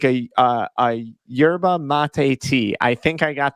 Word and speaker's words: yerba mate: clean cause uh it is you got the pronunciation right it's a yerba mate tea um we are a energy drink but